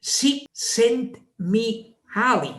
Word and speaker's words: Csikszentmihalyi: no sabemos cómo pronunciarlo, porque cuando hay tres consonantes juntas, se pronuncia así, Csikszentmihalyi.